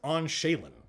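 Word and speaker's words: awnsheghlien: no mine is usable so it's pronounced on shaylen that word let's do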